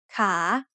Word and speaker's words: ขา: The initial consonant is ขอไข่ and it has the long vowel สระอา So once again, a high-class consonant with a live syllable ending results in a rising tone. ขา Now let's learn a new vowel pair.